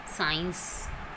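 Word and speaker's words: science: और आई आता है, सी के बाद ई और आई आता है तो वहाँ पर सी की साउंड नहीं आती, सी वहाँ पर साइलेंट लेट होता है. For example Saint, साइंस.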